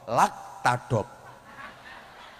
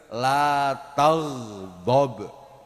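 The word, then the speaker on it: لا تغضب: Lam alif ta gin ba, dan Gauro membacanya sebagai "lak tadop ." Ya, itu memang bahasa Jepang, meskipun yang benar adalah "la tagdob."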